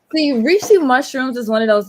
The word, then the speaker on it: Reishi: One of our viewers wants to know how you spell that. It is REISIH. REISI. Oh, REISHI. Oh, okay. Right? Oh, Reishi? yeah. Reishi, Reishi.